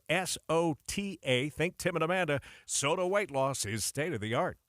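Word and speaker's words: SOTA Weight Loss: It's spelled S-O-T-A. Think Tim and Amanda. Soda Weight Loss is state-of-the-art.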